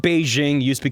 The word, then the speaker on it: Beijing: Nanjing, which was called Nanking because it's like Beijing used to be called Peking. Have you ever heard of Peking duck? Oh, shit. That's Beijing.